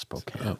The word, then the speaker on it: Spokane: from Spokane Spokane Washington which is Spokane it's pronounced Spokane well I'm that's my britishness coming out not